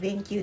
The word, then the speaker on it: BenQ: で、こちらは弁球さんっていう、 BENQ って書いて弁球って読むんですけ